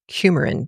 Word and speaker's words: coumarin: is something in the bean called coumarin, not coumadin, not cumin, but coumarin, Coumarin.